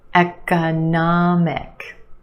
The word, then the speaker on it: economic: Economic. We've got four syllables. The third syllable is your stressed syllable. Nah, the a sound. Economic. And we have a schwah in the second syllable.